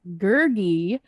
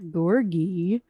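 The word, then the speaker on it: Gurgi: was princess ilonwi and it was gergie not gorgey oh yeah i didn't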